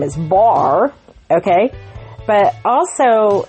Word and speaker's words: Barre: So this little guy's name is Barre. He is spelled like the ballet Barre, B-A-R-R-E.